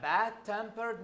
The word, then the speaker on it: bad-tempered: when I say a bad-tempered man so stress yes it's change into bad so bad-tempered here the primary stress is on I'm bad it is not on tempered anymore why because there is